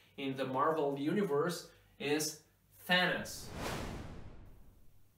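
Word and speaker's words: Thanos: Marvel Universe is Tannis let's practice the th sound you know how important it is and how difficult it is sometimes to say thinners remember to say it properly every time you have these two letters together the th have this sound fat fat feed thought through fat thinnest remember this is not on your lip you should not see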